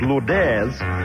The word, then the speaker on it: Lourdes: night called Lord Aires spelled exactly the same as Lourdes actually but we understand it's to pronounce Lord Aires so we congratulate McDonald